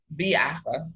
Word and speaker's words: Biafra: knew of and I'm gonna fuck up the pronunciation again, but the Biafra War. Biafra. Like, what is it? Biafra. Biafra.